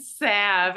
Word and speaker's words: salve: Salve. And I keep saying Salve. Yeah. I don't think you pronounce the L like Let me put that salva on.